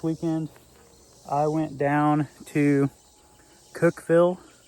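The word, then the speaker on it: Cookeville: So, this past weekend, I went down to Cookville. Cookville. I don't C O K Eville. I was calling it Cookieville. No one else did. So, I thought I was saying it wrong.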